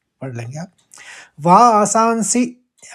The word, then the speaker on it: वासांसि: वासांसि हस्व पढ़ना है, सी जीर्णानि ये भी